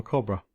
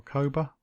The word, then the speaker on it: Coba: is small compared to Tulum or Cobra. Or Coba? I'm sure you know how to pronounce that correctly. It's spelled C-O-B-A. The most remarkable thing about